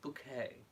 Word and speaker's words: Bucket: my next video yes it was bail bucket but pronounced bouquet and I definitely think that